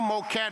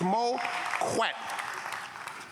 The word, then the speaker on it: Moquette: Learn how to pronounce his name, too. There's no Moquette, it's Moquette.